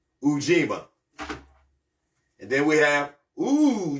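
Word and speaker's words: Ujima: determination I keep drifting uima uima u j i m a which is collective work and responsibility and it's pronounced U that U is oo o g ma you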